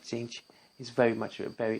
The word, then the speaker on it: Tzeentch: And today we're looking at the Maze of Tzeentch. I'm going to be pronouncing that way because both T's are silent.